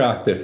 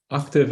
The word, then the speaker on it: Octave: Tav is pronounced to rhyme with suave.